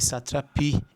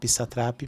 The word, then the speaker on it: Satrapi: Marjane, e eles falam na série Marjan e Satrapi, então eu falo muito Satrapi, mas a pronúncia correta é Satrapi.